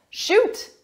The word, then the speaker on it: shoot: Shoot. Yes, you can ask me your question. Number 14, give me a shout. First, notice in the last one, shoot, pronunciation, oot. This one, out, shout, shoot, shout.